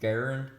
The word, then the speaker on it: Garand: This rifle was made by a man by the name of John Garand. That's the way you pronounce his name, and you'll sometimes hear people call it that, the M1 Garand.